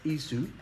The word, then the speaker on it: Esau: ethu and yakub or Jacob and Esau pronounced ISU and yakub now Yak was 40